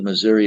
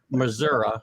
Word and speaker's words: Missouri: And then when I went to Missouri as the associate head coach and defensive coordinator, I really enjoyed that role because you're closer to the players.